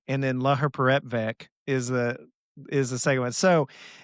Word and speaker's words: laherparepvec: Laherparepvec is how they said it on there. Laherparepvec.